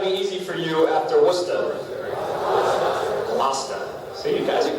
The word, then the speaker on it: Worcester: This is Worcester. Okay, that's a two-syllable word, Worcester.